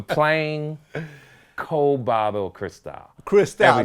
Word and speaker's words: Cristal: Cristal, not the expensive shit, not the expensive stuff. Right. Yeah. Am I pronouncing it right? No, you're saying it right. Yeah. Cristal, the real shit.